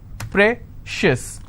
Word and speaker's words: precious: corn con schis okay precious how many syllables again precious i will stress on prey same thing applies for